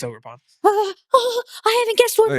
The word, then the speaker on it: Ogerpon: So is it the Ogre Pond? It's Ogerpon.